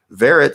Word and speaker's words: Verret: says there it this guy there rhymes with ferret or Valerie Jarrett is shortened for Valerie Jarrett Verret says I on the